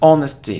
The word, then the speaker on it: honesty: not emphasis emphasis emphasis it isn't honesty it's honesty so we don't pronounce h here honesty it isn't Ure